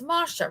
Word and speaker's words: Masha: Um, is it is it Masha? It's Masha, right? A long a Yeah.